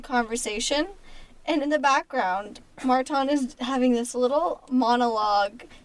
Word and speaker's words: Marton: They call me Marton now. They would always call him Martin. And get this, he would never correct them. Nope. He would never say anything about like, oh, you're not pronouncing my name correctly, or like, nothing. Yeah, it's just my name has an O, not an I, but say it as you will.